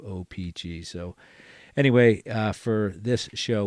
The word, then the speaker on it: O-Pee-Chee: And the more and more collectors that I run into or hear or listen to kind of accentuate the second syllable there. So they go O-Pee-Chee, and I do O-Pee-Chee.